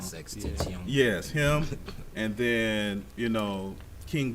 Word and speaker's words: XXXTentacion: From Extension, I know I probably pronounced his name wrong. XXXTentacion.